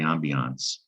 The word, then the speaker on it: ambiance: english word ambiance and we pronounce it the french way ambiance the thing is there's